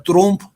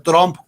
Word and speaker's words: Trump: están muy bien bajados no se pronuncia trump se pronuncia trump como trompeta pero sin electa los